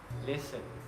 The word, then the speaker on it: listen: And next, the letter T can also be silent, like in these examples, and there's quite a few. For example, listen, castle, Christmas, and whistle.